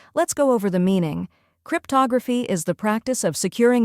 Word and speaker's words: cryptography: The correct pronunciation is cryptography. First, crypt sounds like crip in cryptic. Next, tog, where the O is pronounced like in log.